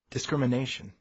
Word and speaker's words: discrimination: Notice which syllable has the main stress in these words. Segregation. Discrimination.